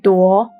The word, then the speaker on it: 朵: clouds and mushrooms, and its pronunciation remains the same, 朵.